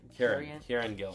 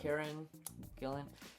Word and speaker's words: Kieran Gillen: Kieran Gillen. Kieran Gillen.